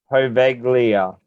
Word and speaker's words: Poveglia: say it wrong so it's poveglia so pov eg lia and it's an island